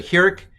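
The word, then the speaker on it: חִירִק: places in hebrew so the heric is a normal i and i'm going to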